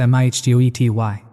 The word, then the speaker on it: mitote: Your whole mind is a fog which the Toltecs called a mitote, pronounced mihtgoety.